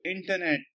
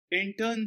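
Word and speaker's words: Incheon: 3 of intern strategy this is pronounced as in turn it's a place in South Korea intern strategy the intern strategy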